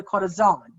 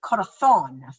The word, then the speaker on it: corazón: Their Z's are pronounced like a th. So in Mexico, they would say like a heart is called a corazón, because they say the Z. But in Spain, they would say corazón, thon.